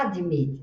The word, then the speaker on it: admit: Nesse apóstrofe aqui, tá dizendo pra gente que a sílaba tônica é o mete ã você não faz a deit, tá? Porque um a pra gente fica uma abertura de bocona muito grande. Fala admit não é o contrário.